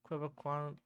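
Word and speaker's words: Québécois: We apologize to every like Quebecois, uh, Quebecois person. That's how you pronounce it, at least.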